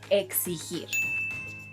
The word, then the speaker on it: exigir: This verb, which means to demand, is pronounced exigir.